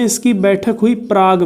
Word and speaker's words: Prague: Check गणराज्य की राजधानी क्या है, प्रयाग, सॉरी प्रयाग नहीं, प्राग। क्या है राजधानी, प्राग, ओके, प्रयाग नहीं, ये प्रयाग तो, प्रयागराज तो अपना इलाहाबाद है। प्राग, प्राग, प्राग, अंग्रेजी में स्पेलिंग देख लीजिए प्राग की, PRAGUE, प्राग, ठीक।